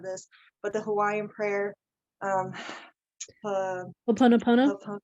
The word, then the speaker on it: Ho'oponopono: So my favorite exercise to do for myself is and I'm so sorry, I always mess up the pronunciation of this, but the Hawaiian prayer. Ho'oponopono? Ho'oponopono.